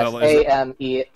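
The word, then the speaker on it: Amélie: Yeah, I how do you, so Amelie, that's how you pronounce it? Yes, Amelie.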